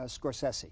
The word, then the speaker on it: Scorsese: Pronounced your last name for me. Uh Scorsesi.